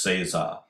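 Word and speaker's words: 正座: or the standard sitting in Japanese is pronounced Cesar so you might associate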